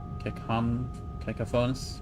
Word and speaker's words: cacophonous: Screeching cacophonous melody. Probably not how you say it. Like cacophony, but cacophonous? Cacophonous melody.